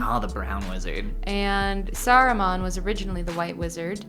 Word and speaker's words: Saruman: Sauron and Saruman. Oh, yeah, those are not there's different. There's an entire extra syllable in Saruman.